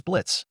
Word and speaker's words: Blitz: My name is Blitz. The O is silent, he said while the two of them shook hands. What O? Charlie asked as she was confused as she didn't hear an O in the name Blitz.